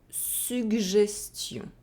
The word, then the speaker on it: suggestion: If you have double G followed by a soft vowel, in this case you can only find it with the letter I, it is going to be pronounced Gj. So you have the G and the J together, Gj. For example, un toboggan, une suggestion.